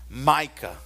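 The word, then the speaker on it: Micaiah: That a man by the name of Micah, if I'm pronouncing it correctly, M-I-C-A-I-A-H, Micah, he is a man that is operating from a particular throne.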